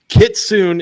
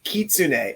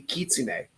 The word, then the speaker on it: Kitsune: you're saying it right it's Kitsune it's Japanese so it'll be k-i-i-t-s-u-n-e I think it'd be Kitsune just helping you out there